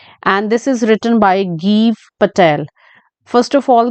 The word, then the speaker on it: Gieve Patel: ठीक है बहुत सारे लोग इसे जीव पटेल जाव पटेल ऐसा कुछ कहते हैं बट रिसेंटली मैंने इनका एक इंटरव्यू सुना है तो जिसमें इंटरव्यू में ओबवियसली पर्सन अपना नाम तो ठीक ही बोलेगा तो इट्स गीव पटेल इट्स नॉट जाइब और जीव okay and this poem in